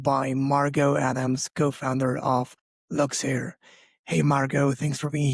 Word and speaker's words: Luxeire: So, Luxair, we are a motherdaughter-owned clothing brand that is